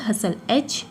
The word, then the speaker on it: hustle: एंड एक होता है हसल, HUSTLE, हसल मीन्स क्या होता है? इसका मीन्स भी होता है भीड़ भाड़। ओके। सो इसमें भी T साइलेंट है, इसमें भी T साइलेंट है, इसमें भी।